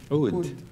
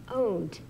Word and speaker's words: Oud: How do you pronounce your instrument? Oud. Oud.